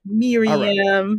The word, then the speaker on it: Mariame: Yes, Mariame. Yeah. Okay. All right. Mariame.